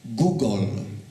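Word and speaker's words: googol: Otóż największa znana mi liczba, która ma nazwę, to jest Google. Tak się to wymawia. Proszę Państwa, notabene bardzo poprawnie się to może Państwu kojarzyć z pewną firmą.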